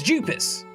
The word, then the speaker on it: Jupis: Like, that's what it's pronounced as. It's Jupis.